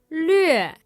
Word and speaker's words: lüe: This last syllable, the hardest one, is lüe That is an L, a U with an umlaut, and an E.